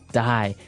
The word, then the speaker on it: dye: Die. So it's pronounced exactly the same way as, to die, to not live anymore. Die. But it's spelled differently. D-Y-E.